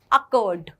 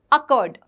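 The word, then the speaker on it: awkward: में, मैंने बताया था ब्रिटिश प्रोनाउंसिएशन में आर को तो ये साउंड ही नहीं करते, so what do you call it, अकर्ड। अकर्ड जिसमें आर का साउंड नहीं आ रहा है।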